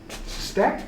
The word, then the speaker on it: suspect: Suspect? Why did I pronounce it like that? You got to be a little suspect. Put the accent on the wrong syllable there.